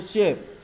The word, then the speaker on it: shape: Ada di beberapa komputer yang nama shape-nya dengan sebutan auto shape, kurang lebih sama ya. Jadi kita akan menggunakan shape. Caranya bagaimana? Insert shape. Tulisannya sapes ya, sapes ini. Oke, tapi bacanya shape ya.